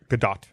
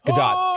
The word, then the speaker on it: Gadot: Or the T is silent. Nope, it's not. Because there's a video of her saying her name that someone showed me Gadot? once. And she says the T, but she is absolutely adorable.